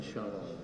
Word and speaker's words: Chanel: Bacanya Chanel.